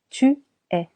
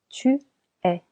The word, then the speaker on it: tu es: Je suis Tu es Tu es here the letter S is silent. Changing the sound of letter E into E. Tu es.